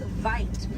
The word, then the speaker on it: wit: Original word for white rhino was vite. Vite means wide in Afrikaans, but over time it was misheard and mispronounced and it turns into the white rhino.